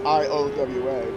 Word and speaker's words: Iowa: Iowa, by the way, is I-O-W-A. That isn't necessarily obvious either. Iowa. I mean, it's spelled just the way it sounds, but if